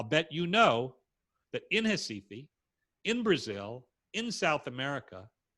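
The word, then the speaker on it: Recife: in the red box pronounced in portuguese hasifi now if you've ever been to cifi or brazil or south america or you've never been i'll bet you know that in hesifi in brazil in south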